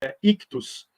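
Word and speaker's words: ἰχθύς: Cristo Deus Filho Salvador ictus e essa é a pronúncia né se a palavra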